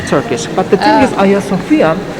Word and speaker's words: Hagia Sophia: But have you heard about the meaning of the Hagia Sophia?